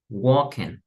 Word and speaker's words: walking: okay other thing remember usually when we have L's in the middle of the words we don't pronounce the L for example we don't